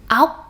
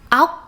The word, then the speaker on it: ốc: But when it's followed by ng and g, it sounds like this. Ong, ốc, ong, ốc, ong, ốc. The vowel in ong and